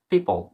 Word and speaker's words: people: পিপল, পিপল বানানটার দিকে follow করো।